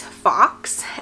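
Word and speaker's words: Foxe: His name is Fox, F-O-X-E is how we decided to spell it.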